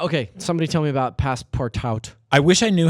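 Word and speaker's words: Passpartout: Okay, somebody tell me about Passepartout. I wish I knew how to say this game. 'Cause I really Passepartout. like it. Passepartout, that's French. Okay, so Passepartout is this wonderful Passepartout. The T is silent.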